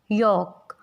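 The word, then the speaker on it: yolk: जब भी vowel A, O and U इनके बाद L लेटर आता है तो वो साइलेंट हो जाता है। एज इट इज़ इन काम, इट्स नॉट कालम, काम। यॉक, should.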